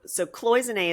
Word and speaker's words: cloisonné: So cloisonné is the way you pronounce it, correct?